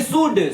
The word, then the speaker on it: should: अंतर देखिए, एक तो हमने लिखा है कि शुड, शुड मीन्स चाहिए। देखिए यहाँ एल साइलेंट रहता है बेटा, एल को हम साइलेंट कर देते हैं।